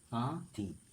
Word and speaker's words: কাঁথি: এবং এই শব্দটিকে নাসিক্য ধ্বনিতে পরিণত হয়েছে এটার উচ্চারণ হবে কাঠি কাঠি কাঁঠি ধন্যবাদ